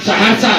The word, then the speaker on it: सहरसा: उनके मुंह से निकला क्या कि सहरसा सहसा कहना चाह रहे थे। सहरसा का प्रोनाउंसिएशन गलत कर दिए।